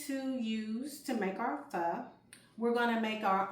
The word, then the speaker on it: pho: getting ready to make a very tasty Asian fur ph. It took me a while before I knew how to pronounce it uh correctly. But uh what we're going to use to make our fur, we're going to make our own vegetable broth,